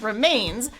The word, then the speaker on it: remains: But the rhyming word, it looks like remains, has both syllables with equal length in the sheet music. That's not right. The second one should be stressed longer. Remains. He goes up in pitch. Mains.